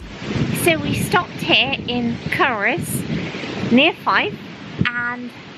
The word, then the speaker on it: Culross: It's not Culross. No. You don't pronounce the L. No, it's pronounced Culross.